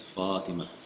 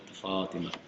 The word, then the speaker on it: Fatima: But here, I think because the ta is heavy, it's Fatima, right? Right? Fatima.